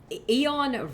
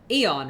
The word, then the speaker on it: Aeon: 4 mana spell Aeon Rend. Aeon, right? That's how you say it. It's not Aeon.